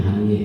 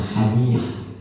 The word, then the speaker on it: Haniyeh: Sebelum saya lupa baca doa buat Syekh Ismail Haniyeh, Turkinya Haniyeh ya, dibacanya Haniyah.